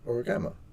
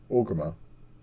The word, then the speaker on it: Orgrimmar: I was like, Origama. They're like, Orgrimmar.